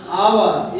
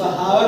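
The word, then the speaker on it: hour: इसका यूज किया गया आवर एच ओ यू आर आवर इस हावर नहीं प आवा आवर र साइलेंट आवा मतलब होता है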